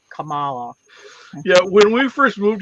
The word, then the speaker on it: Kamala: of different part like I'm from the Midwest so I want to say that K like a hard K where you're making it more like a c sound like Camala I I want to say that hard K like Camala yeah when we first